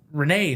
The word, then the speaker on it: Renee: His name's Renee not Ray and I didn't want any of that.